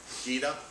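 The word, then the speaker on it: gEDA: GITA is the way I pronounce it.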